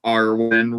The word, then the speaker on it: Armand: awfully convenient he has his name is Armand rhymes with Darwin and the devolution part